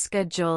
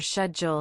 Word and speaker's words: schedule: Also, note that schedule can be pronounced schedule in American English or schedule in British English.